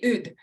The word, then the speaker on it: Hood: easy okay well yeah mine's French so it would be Ood technically but all right well